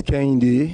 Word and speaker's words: Kehinde: full names please zero my name is kendi okay and kinde is spelled h-i-n-d-e actually we have kind in gambia but i think the kind that we have is a female name yes but uh this it sounds almost the same we have a lot